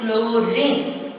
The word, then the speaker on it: chlorine: Chlorine, C, L, H is silent, chlorine.